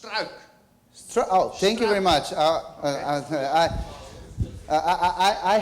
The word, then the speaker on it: Struik: Okay, for an English speaker, it's very natural to think that U and I are two vowels, so you say struik. But in Dutch, UI is just one vowel combination, so it's pronounced struik.